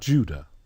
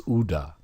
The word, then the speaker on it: Judah: It's not Judah, it's Uda. If you go to the slave coast, even to this day, it's spelled Q-U-I-D-A-H, which is a transliteration from the French. It gives you the phonetic sound and the phonetic spelling. There is no J. It's pronounced Uda.